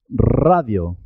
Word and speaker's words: radio: pronunciar tú tarro tarro cuando la r está al comienzo de la palabra se escribe simple se escribe una sola r pero suena doble suena doble por ejemplo radio Rosa ratón Manía r